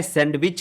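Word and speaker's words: sandwich: मैं सैंडविच खाता हूँ, आई ईट द सैंडविच। मैं सैंडविच खाता हूँ, आई ईट द सैंडविच। यहाँ पे बच्चों एक चीज़ और आपको बताना चाहूँगा, सैंडविच में डी साइलेंट होता है, तो आप क्या बोलेंगे?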